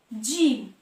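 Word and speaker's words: gym: দেখো জিম, জিম, এক্ষেত্রে জি এর উচ্চারণ আসছে জ, জিম।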